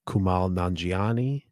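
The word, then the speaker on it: Kumail Nanjiani: I'm gonna nice, mispronounce the name, but Kumal Nanjiani.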